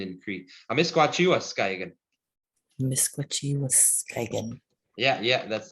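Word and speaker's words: Amiskwaciy-wâskahikan: You want to know how to say the Cree word for Edmonton? Sure. It's kind of a long word, no? Amisquachiwa Skaigan. Should I say that? Say Amisquachi Amisquachi, Waskaigan. Waskaigan. Yeah, that's Edmonton in Cree.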